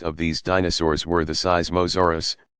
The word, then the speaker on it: Seismosaurus: these dinosaurs were the seismosaurus pronounced syz masoor us and supersaurus the seismos